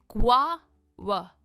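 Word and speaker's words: guava: Next, जिसे हम अमरूद कहते हैं, यह है ग्वावा। ग्वावा, स्ट्रेस ग्वा पर है, ग्वावा।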